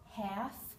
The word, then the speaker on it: half: now the unexpected sound all of these four words have a silent L talk walk half calf the L is not pronounced in any of those words I will meet you